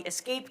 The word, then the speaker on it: ESC: Just think about the Escape Key.